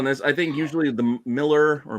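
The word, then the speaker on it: Millar: I think usually the Miller or marar books however I know it it's properly pronounced Miller but say marar uh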